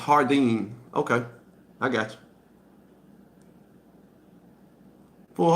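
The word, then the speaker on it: jardín: that it's my opinion jardine is hardine jardine is spanish for garden hey okay so it's pronounced hardine okay i got you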